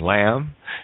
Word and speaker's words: lamb: B is silent in bomb and lamb.